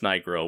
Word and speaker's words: Nigro: At least Matt Denyon has told me it's Nigro, which is, I guess,